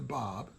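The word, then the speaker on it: Báb: the bahai messengers namely the Bob pronounced Bob like your uncle and it means the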